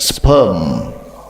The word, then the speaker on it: sperm: except sperm remember sperm the r should not be red oke so r is silent in brish so except sperm no r no except sperm.